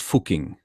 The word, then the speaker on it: Fucking: It's pronounced Fucking.